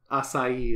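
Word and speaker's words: Açaí: Acai is how you say it. Acai.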